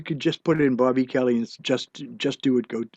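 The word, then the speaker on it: Bob-E Kelly: just say bob space e space kelly it's pronounced bobby kelly but it's spelled blob space e space kelly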